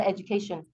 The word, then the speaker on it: education: So where is the stress? CA.